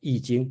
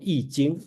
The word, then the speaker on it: I Ching: book of change soal eing okay so remember this I pronounced as e not I it's e so I think